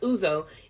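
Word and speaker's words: ouzo: juice like a lot of lemon juice it's pronounced uzo is a dry anise flavored aperitif that is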